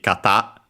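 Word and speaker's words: 方: uh actually uh accent the accent on its own should be kata uh on the last syllable.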